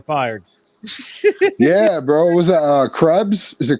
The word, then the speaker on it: Krebs: Was that Krebs? Is it Krebs or Klebs? Oh my God, bro! I'm not sure how it's pronounced.